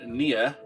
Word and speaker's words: NieR: am going to play nero amar today boys how about that neon automata i wasn't even sure how you pronounced it it's pronounced near as in the opposite of far and automata as in